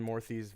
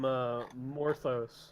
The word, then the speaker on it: Morthy: Mateo's gonna come over and check Benjamin Morthy's vital signs. He's paste. He is a smudge on the ground. Oh, I pronounced him Morthos a while back.